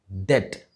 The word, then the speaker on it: debt: Remember, the B in this word is silent and it should be correctly pronounced as debt.